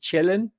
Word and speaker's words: Chillin': Remember his song Boogie Chillin'? That's how we pronounced children.